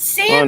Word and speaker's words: salmon: It's salmon. understand. It's not salmon. Oh my god! People who Salmon.